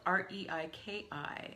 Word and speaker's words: Reiki: Reiki is spelled R-E-I-K-I and is pronounced Reiki.